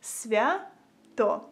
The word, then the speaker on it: Свято: Свято.